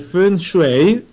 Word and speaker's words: Feng Shui: che tratta questa tematica orientale che è il Feng Shui, e direi che stavolta l'ho pronunciato bene perché mi sono impegnato, sì, no,